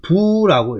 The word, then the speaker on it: 復: 그 다음에 춘부영화자는 봄이 되면 다시 부로 읽어야 됩니다. 부로 읽어야 되고요. 일반적으로 복이죠. 회복하다 할 때, 수로로 쓰여서 회복하다 할 때는 이 자리가 수가 되는데, 다시로 읽을 때는 그거죠. 부사죠. 부사를 다시로 할 때는 부라고 읽어야 됩니다.